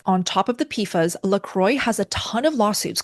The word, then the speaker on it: LaCroix: this brand infamous, is LaCroix. I think in French it's pronounced La Croix.